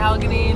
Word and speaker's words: Allegheny: made we had a good time at Allegheny National Forest that's how you say it yeah